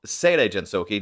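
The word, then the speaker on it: Seirei Gensouki: on a show called seirei jensoki not say re probably as i mispronounced it the first time i think sante jensouki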